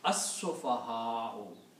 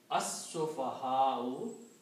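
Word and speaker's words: السفهاء: As-sufaha'u, the fools. Okay? As-sufaha'u, that's the way it is written, because you pronounce shadda, put a shadda on sin and don't pronounce lam.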